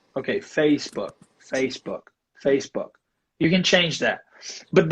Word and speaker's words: Facebook: I know that usually Brazilian people like you and I add an epenthetic vowel, an extra vowel in there. And when I do that, I'm actually adding an extra syllable to it, so I'm not going to do that. So I'm going to say Facebook.